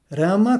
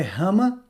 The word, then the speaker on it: Rama: segunda parte do mantra ela é pronunciada rama como em fliperama não é rama tá bom pra é